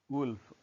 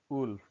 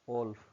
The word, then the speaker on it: wolf: Second is wolf, wolf, not wolf.